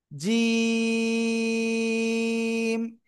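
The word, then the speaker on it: جيم: জিহ্বার মধ্যখান দেখেন, আমার দিকে তাকানা, তার বারবার উপরে তালুর সঙ্গে লাগাবো, লাগিয়ে শক্ত করে 1 2 3 আলিফ টেনে পড়বো। জিম।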